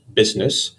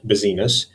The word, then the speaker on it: business: remember it is pronounced business and not buiness it is in fact a word with two syllables it's a grim reminder